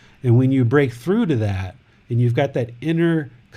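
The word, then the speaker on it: ไหว้: So the hands coming together in the prayer position, this is called a Y, W-A-I. That's how I spell it, Y.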